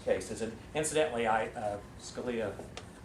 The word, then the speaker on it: Scalia: and incidentally I uh Scalia rhymes with Sharia and it reminds me